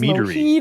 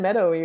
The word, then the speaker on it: meadery: I said meadowy, right? I didn't pronounce it. Sorry. It's mielerie in French, and I didn't know the English word before I actually translated this, so I didn't say it right.